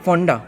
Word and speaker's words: Ponda: It is written as Ponda. Okay. But in Konkani, Yeah. the locals in the local dialect, Yeah. in the colloquial dialect, it is pronounced as Fonda.